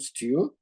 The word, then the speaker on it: STEW: So join us to discuss the letter E in our acronym STEW, that abbreviation that we pronounce as if it was a word.